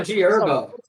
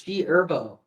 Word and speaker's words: G Herbo: It's also G Herbo. The H What is is going silent, on? bro. What? The H is silent. It's G Herbo.